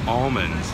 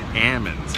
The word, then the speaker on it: almonds: to college and also they are not pronounced almonds it is Ammons and you want to